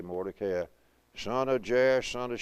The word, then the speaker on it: Mordecai: to the diacritical marking, Mordecai. Most people say Mordecai. I'm guilty of done that many times. Mordecai is the way it's marked here. Long A, accent on the CA, Mordecai.